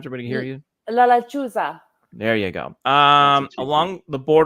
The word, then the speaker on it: La Lechuza: La Lechuza. Yeah, there you go. Say that again one more time so everybody can hear you. La Lechuza.